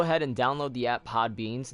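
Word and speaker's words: Podbean: for all I know am I saying it right is it really pod beanie where's my extras yes it is called pod bean be ODB EAN and my bro I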